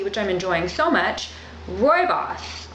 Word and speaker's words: Rooibos: I'm enjoying so much Roy boss I believe that's how you pronounce it r-o-o-i-b-o-f um Rooibos and my trouble was